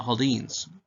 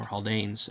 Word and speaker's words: Haldanes: But he joins in on this church of the Haldanes, or Haldanes. I've heard it pronounced both ways.